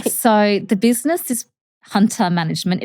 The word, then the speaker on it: Huynh: explain it is because it always gets pronounced Huntha. Even with clients that have been with me for over 12 years or longer, they pronounce it as Huntha because that's how literally you would spell it, but phonetically it's Hunter, according to how you'd pronounce my name.